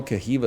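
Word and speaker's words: Caoimhe: is this kiva's Forge they don't even know civa is not spelled like that it's spelled c a o i m h e people tell me I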